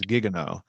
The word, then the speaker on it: Guigueno: Gigueno or something a little more. I don't know. I never knew that's how you pronounced it was Gigano.